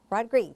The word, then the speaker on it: Rodrigue: And the artist's name is George, let me pronounce it right, George Rodrigue. Rodrigue, that's right. The pronunciation is strange, and it does not look at all like his name, but that is how he pronounces it.